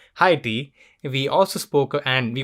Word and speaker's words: Haiti: her home country of haiti or as i learned it's pronounced as uh heidi we also spoke and